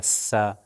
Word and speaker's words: ث: ہم نے آپ کو بتایا کہ سا جو ہے بالکل ذال کی طرح اوپر والے اور نیچے والے دانتوں کے درمیان میں زبان تھوڑی سی باہر آئے گی اور اس کا تلفظ ہوگا سا.